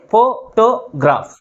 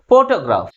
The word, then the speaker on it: photograph: That is, first syllable is pronounced with a greater force comparing with other syllables. How we have to use this word? Photograph.